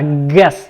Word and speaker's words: Guess: Но запомните, не путайте Guess. Жесткий Г. Гава, Крыльцо, Guess.